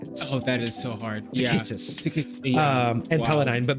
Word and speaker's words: Takhisis: I always have a hard time pronouncing that. It's Takhis. Oh, that is so hard. Takhisis.